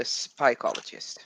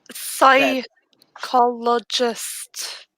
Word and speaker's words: psychologist: I will hunt the spycologist. I don't think you're saying it right. I am saying it right. No, I really don't think you are. Spycologist. Psychologist.